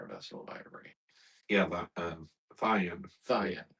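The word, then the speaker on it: thyine: Or is that how it's spelled? Wood and all manner of vessel of ivory. Yeah, Thion.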